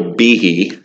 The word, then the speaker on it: Behe: who got blacklisted was a man named michael behe and that's how you say his name b-e-h-e it's a microbiologist who